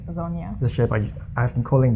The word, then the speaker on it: Sonja: Yeah, I'm used to being called Sonja in every other country, but yeah, it is Sonja.